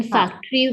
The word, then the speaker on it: factory: The second syllable t has the vowel schwa in it, and the thing that